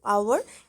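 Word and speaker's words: hour: আওয়ার, এটার আগে সবসময় অ্যান বসে, কারণ এখানকার যে এইজটা সেটা সাইলেন্ট থাকে।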